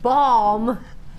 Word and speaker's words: balm: happens if you get bam on it? Not that that's got bam on it. Give it a little wipe. All right, balm. I call it balm. I just don't pronounce the L.